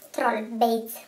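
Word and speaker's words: Trollbeads: Troll Braids, insomma, come si pronuncia? O Pandora. Troll Bates, dovrebbe dirsi.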